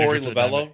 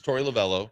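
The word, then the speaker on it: Torey Lovullo: The man Tory Lavell. Yeah. Yeah. Him. It's Tory Lavello.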